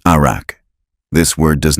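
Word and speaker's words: ערך: In Hebrew, arak, pronounced arak.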